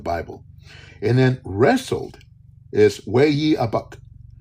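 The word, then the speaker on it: ויאבק: And then wrestled is Way-ye-abuk. Way-ye-abuk. I can spell it for you. Wayyeabeq. So it's a wordplay where all 3 words sound like each other.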